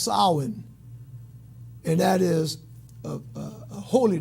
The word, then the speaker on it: Samhain: It says Samhain, but it's pronounced Samhain, and that is a holy day in the religion of Wicca.